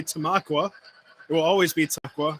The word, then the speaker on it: Tamaqua: and i'm an idiot i actually used to call tomaqua tomaco i had no idea i'm just an idiot from baltimore that moved up to pennsylvania and i had no idea how to pronounce tamaqua so i called it tamako and then i got my uh verbally butt kicked by a a tamaquin and uh so now it's officially tamaqua it will always be